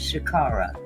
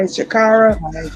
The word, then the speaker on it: Sha'Carri: about the subject about this particular um lady Shakara, is that how you pronounce her name? Yes, Shakara. Okay. Shakara.